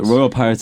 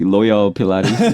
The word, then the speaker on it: Royal Pirates: Royal Pirates is like too difficult for most Koreans to pronounce. Yeah, they always say like Loyal Pilates.